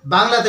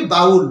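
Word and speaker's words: bowl: পারলে নেক্সট কি আছে আচ্ছা এরপর যে আমাদের বাংলাতে বলি ইংরেজিতে হচ্ছে বি ও ডব্লিউ এল বি ও ডব্লিউ এল এটার এটার উচ্চারণ আমরা কি বলি বাউল বাউল মানে কি বলো বাটি আমরা জানি বি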